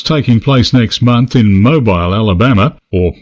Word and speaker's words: Mobile: place next month in Mobile Alabama or how our American friends would pronounce It Mobile is for a major